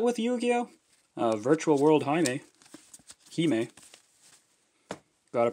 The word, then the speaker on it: Hime: Hime. Gotta pronounce it right. I believe the first time I saw that card, I called it Virtual World Heim.